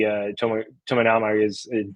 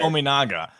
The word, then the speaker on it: Tominaga: You look at obviously Casey Tominaga is not there, and I know I totally mispronounced that last name right there. Tominaga. I think that's how you say it, at least.